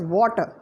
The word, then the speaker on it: water: I would say that the word are sound is omitted is removed and the word is pronounced as water information so when we